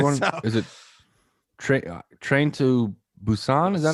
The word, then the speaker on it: Busan: Is it Train to Busan? Is that how you say it? Busan.